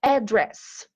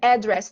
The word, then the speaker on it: address: E também What's your email address? Essa palavra address tem duas pronúncias, pode ser address ou address. Address.